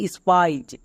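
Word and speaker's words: spies: নেই তাহলে আই ই এস এর জন্য আইজ উচ্চারণ হবে যেমন স্পাইজ এফ আর এর জন্য ফ্রো প্লাস আইজ ফ্রাইজ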